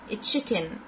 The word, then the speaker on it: chicken: دجاجة أو لحم دجاج chicken chicken chicken. السي اتش بننطقهم تشي، السي اتش في الصوتيات بننطقهم تشي يعني ت وشين. وعندنا السي كي مع بعض كده اللي في النص بننطقهم كي، بنقول chicken chicken.